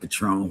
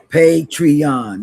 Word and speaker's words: Patreon: Not Patron. What's that thing? Patreon. That's what that thing is.